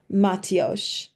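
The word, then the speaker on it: Maltiox: common one it's called it's pronounced matio matio means thank you from the heart so um throughout the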